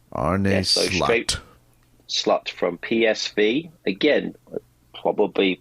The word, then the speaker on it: Slot: How do you pronounce his name? Arne Slot. Slot.